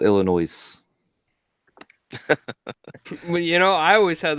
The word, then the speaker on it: Illinois: illinois illinois yeah yeah i should you know what i should put that in like the comment section i l i n o i z e illinois um i do uh i l l and then i quote noise did you say our kansas uh arkansas no well i know arkansas spells out our kansas right arkansas you don't say our kansas so it's illinois not illinois you know i always